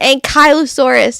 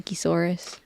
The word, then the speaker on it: Ankylosaurus: my youngest kid constant corrects me in pron pronunciation of an Ankylosaurus she's like it's an Ankylosaurus and I'm like okay but I'm still going to call it an anchisaurus Sam says they're my favorite dino mine too